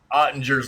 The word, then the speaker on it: Ottinger: I know that we've had to talk about Ottinger's last name. That's the way everybody pronounces his last name is Ottinger, so I'm just going to pronounce it like that.